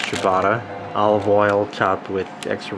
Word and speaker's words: ciabatta: This happens to be a ciabatta, which is pronounced ciabatta.